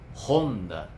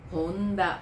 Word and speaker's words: Honda: Honda. Honda。 Suzuki. Suzuki。 Então, nós temos uma clara tendência a acentuar a penúltima sílaba, né, das palavras de origem japonesa.